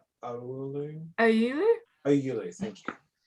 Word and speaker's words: Oulu: Oulu, thank you.